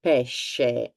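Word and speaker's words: pesce: a h h instead for the the word for fish we have exactly the same sound fish in English and PES in Italian this helps more to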